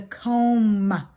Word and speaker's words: comb: use I used a comb what letter do you think that ends it's a silent letter and again this is